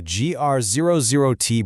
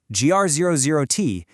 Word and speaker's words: GR00T: GR00T, and yes, it is playfully pronounced exactly like the giant tree character from Marvel, stands for Generalist Robot 00 Technology.